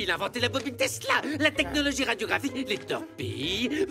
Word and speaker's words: Tesla: Ça se prononce Tesla. Nikolai Tesla.